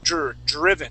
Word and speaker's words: driven: Okay, so give me a good DR sound. The DR is sometimes very difficult. That's driven.